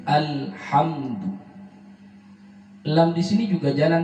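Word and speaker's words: الحمد: Hati-hati pada alhamdu, lamnya tidak boleh mantun, yang dikenal dengan tawallud, dilarang. Karena ini bukan huruf qalqalah, dilarang mantun, bukan alhamdu, tapi alhamdu.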